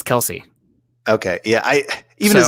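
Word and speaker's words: Kelce: i didn't wanna yes the e is silent on travis kels but his brother says it's kelsey okay yeah i even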